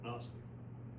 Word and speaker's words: gnostic: Um in the case of agnostic, although in English we don't normally pronounce the opening G in gnostic, when we add the negating prefix A, we pronounce the G.